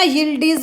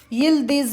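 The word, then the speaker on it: Yıldız: इसको है ना यिल्डिज भी बोलते हैं और यिल्दिज भी बोलते हैं, ठीक है। ये दोनों चीज़ आपको देखने को मिलेगा, डीज बोल दो, दीज बोल दो, भाई इंग्लिश प्रोनाउंसिएशन और हिंदी प्रोनाउंसिएशन के अकॉर्डिंग ऐसा हो जाता है।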